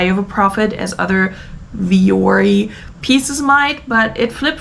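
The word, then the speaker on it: Vuori: recently heard a commercial I think it's viori viori anyway I think that's how it's pronounced um leggings they were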